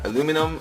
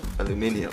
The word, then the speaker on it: aluminum: those names but yeah I am liking aluminium yeah aluminum aluminum uh it's still the same thing spelled the same way just pronounce differently depending on on where you are so they have actually